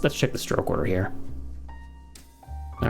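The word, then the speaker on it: 日: by its lonesome it could be read as he which could mean day or you know so it could be used as sun as well i suppose um and it could also be niti which is um like for example nichiobi would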